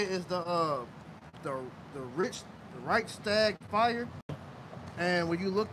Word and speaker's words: Reichstag: So I believe how you say it is the Reichstag fire. And when you look that up, it says the Reichstag fire was a major event in Germany on February 27, 1933, when the Reichstag building, the German parliament in Berlin, was set on fire.